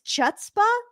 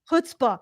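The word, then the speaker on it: chutzpah: It's like an astound I don't know if this is chutzba or stupidity. She's like nobody will ever question is it pronounced hutzbah hutzbah is it hutzbah or stupidity to put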